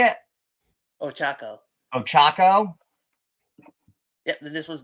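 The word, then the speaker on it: Ochaco: Ochako.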